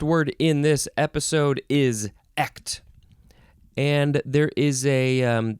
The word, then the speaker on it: echt: to do that but it's pretty much just like act act yeah it probably has